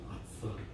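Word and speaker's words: ישר: 아사르. 아사라고 읽으면 안 됩니다. 아사르라고.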